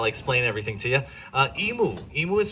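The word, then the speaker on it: imu: Uh, emu. Emu is spelled I mu, meaning cooking pit or underground oven.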